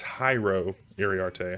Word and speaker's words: Jairo Iriarte: Again, I've been mispronouncing that not once, but twice. 2 different ways. So I was double wrong. But it's Jairo Iriarte. I've been pronouncing the last name correctly, just not the first name.